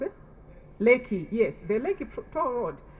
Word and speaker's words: Lekki: I think Nigeria you have Riki, do you call it Lekki or Riki? The toll road that government took back. How do you pronounce it? Lekki, yes, the Lekki toll road.